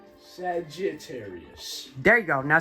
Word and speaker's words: Sagittarius: No, say with like Say Saget, not Sajar. Sagittarius.